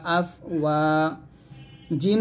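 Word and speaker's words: أفواجا: ওয়া আলিফ জবর ওয়া, আফ ওয়া। জিম দুই জবর জানা, ওয়াকফ দিলে যা, একটা টান দিবেন, তাহলে হবে ওয়া রাআইতান নাসা ইয়াদখুলুনা ফি দীনিল্লাহি আফওয়াজা, আফওয়াজা, আফওয়াজা, এরকম।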